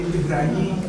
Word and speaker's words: Ibrahim: Porque Ibrahim é aquele Aleph deles assim, acho que é Aleph, depois eles fazem B. Então, aí esse Aleph, quando tem uma coisinha aqui, no árabe eles fazem I, mas seria Ab. Então, vira Ibrahim.